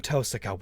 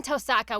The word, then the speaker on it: Tosaka: We have said Tosaka in the past. We're trying to sort of more adhere to the Japanese pronunciation. Oh. Tosaka. Tosaka. Like Tosaka. Tosaka. Is that right? Tosaka? Yeah. Rin Tosaka? Yeah. Imagine there's an E in the middle.